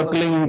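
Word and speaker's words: क्लीं: की मात्रा और बिंदी, उसका उच्चारण होगा क्लिंग गा। गा की ध्वनि निकलेगी पीछे। आप अंग बोलो, यहां स्ट्रोक लगता है, अंग बोलो।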